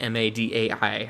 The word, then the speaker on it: Madai: All right, let's hop over here to Wikipedia and see what else we can find about M-A-D-A-I. I don't know how to say their name.